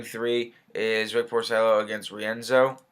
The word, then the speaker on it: Rienzo: is rick porcello against rienzo i believe is how you say his name andre rienzo um so